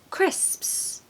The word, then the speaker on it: crisps: can I say so the first syllable is a very popular male name here in the UK Chris Chris and then of course you've just got to master this sound crisp it has a lot of s the combination of P and S is like P put it all together and it is crisps crisps my favorite crisps